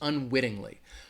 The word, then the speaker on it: unwittingly: ting Li all right that would have four syllables unwittingly unwittingly is the word the stress is going to be on that wit unwittingly unwittingly the other